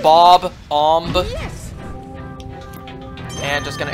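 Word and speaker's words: Bob-omb: follow me B bomb does anyone else always just Pro pronounce bomb like that A B bomb instead of Bob om yes and just going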